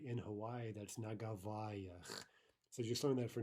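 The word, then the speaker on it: на Гавайях: It's na gavayach, and that is a prepositional plural ending, ach yach, which of course we're not studying yet, but here it's inevitable, right?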